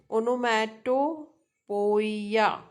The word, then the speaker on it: onomatopoeia: Computer, three syllable word. Then onom, onomatopoeia, onom, ono, onomatopoeia, poeia has six vowel sound.